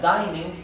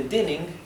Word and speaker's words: dining: Y esto se pronuncia dining en vez de dinning porque tenemos una sola N y luego tenemos una vocal, mientras que aquí tenemos dos Ns. Por eso esto se pronuncia dinner y esto se pronuncia dining room.